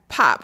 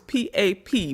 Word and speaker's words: pap: It's pop. It's p a p. But I used to I was saying pap. And when I was there, they was like, "It's not pap, baby. Pop.